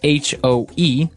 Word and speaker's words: hoe: It's H-O-E, and it's pronounced hoe.